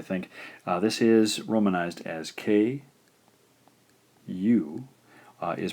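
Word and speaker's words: く: This is romanized as K. U is pronounced ku.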